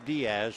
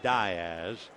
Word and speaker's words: Diaz: Center and we have two down and Matt Diaz coming up first time you see the name you figure it's Diaz but he pronounces it Diz so Matt hitting 278 he has a home